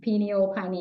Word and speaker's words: pineal: Some people will say pineal gland, pineal, there's two different ways to pronounce it.